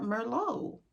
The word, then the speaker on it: Merlot: So even I am not a drinker, but I know to pronounce the name, it's more Merlot.